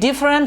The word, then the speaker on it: different: ၃ခုရှိပါတယ်။အဲ့ဒီမှာဒုတိယမြောက်အတန်ဖြစ်တဲ့ for ဆိုတဲ့အတန်မှာ or ဆိုတဲ့ alphabet လေးကိုကျွန်တော်မြုပ်လိုက်မယ်ဆိုလို့ရှိရင်တော့ English pronunciation အတန်ထွက်အမှန်ထွက်လာပါတယ်။အဲ့တော့အတန်ထွက်အမှန်ကတော့ comfortable ဆိုတဲ့အတန်ထွက်အမှန်ထွက်လာတာဖြစ်ပါတယ်။ဒုတိယမြောက်စကားလုံးကတော့ different ပေါ့နော်ခွဲပြခြားနာသောဆိုတဲ့အဓိပ္ပာယ်ရပါတယ်။ဒီ different ဆိုတဲ့စကားလုံးမှာဒုတိယမြောက်အတန်ဖြစ်တဲ့ fa မှာ e ဆိုတဲ့ alphabet ကို drop